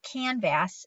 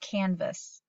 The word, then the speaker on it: canvas: its long name but it can say its third sound so that's why it's it's not canvas its canvas all right saying its